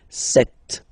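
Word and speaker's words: sept: Then here remember b is not pronounced. Okay. It doesn't exist. So you've got this set sound.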